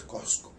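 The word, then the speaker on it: Qosqo: Ahora, la pronunciación local, moderna, en el quechua, en labios de los hablantes nativos, sigue siendo pues Cosco. O sea, se mantiene tal como se pronunciaba la palabra en el siglo XVI. Ni más ni menos, sigue siendo Cosco.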